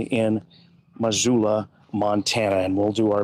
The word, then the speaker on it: Missoula: 2 S's, but pronounced like a Z. No, I think it is a Z. Missoula, Montana.